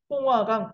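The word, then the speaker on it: 松花江: 이런 부여가 있는 이 강, 네, 여기 이 강을 바로 우리가 송화강 또는 중국 발음으로 숭화강이라고 합니다.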